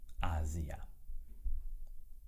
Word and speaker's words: Asia: Chữ thứ hai được phát âm là A..[z]..ia, Asia Chữ S được phát âm là [z] khi nó được tìm thấy giữa hai nguyên âm, A và I trong trường hợp này.